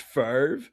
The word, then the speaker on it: Favre: He's French. Mm-hmm. There's an X on the end of it. It's French. Fat fuck you. It's actually pronounced Favre. There's not even a V in well, we got it wrong.